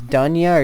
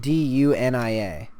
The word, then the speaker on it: Dunia: It's I don't know how you pronounce it if it's Duna or Dunia. It's spelled D U N I A. Probably Dunia.